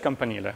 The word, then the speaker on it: campanile: It's maybe one way to really mispronounce it, you could say campanile or whatever, or like camp on the Nile or whatever. I don't know. It's just campanile, so that one doesn't